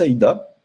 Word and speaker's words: AIDA: La matrice AIDA, ou EDA, on peut le prononcer des deux manières, c'est en fait l'acronyme de attirante.